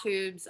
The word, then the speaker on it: Twoobs: yep so we're at tubes on instagram it's t-w-o-o-b-s there's a silent w in there and obviously go